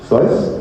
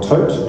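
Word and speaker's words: Thoth: from within ancient Egypt was tho or tote depending on how you pronounce it the bulk of this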